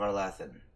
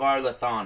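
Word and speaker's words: Arlathan: this adventure statue called the lights of our latin of our lethan apparently i've been saying it wrong all the time which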